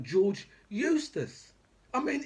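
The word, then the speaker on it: Eustice: got mps like george eustis i mean it's so it's so good that the man's name actually rhymes with useless that's the best thing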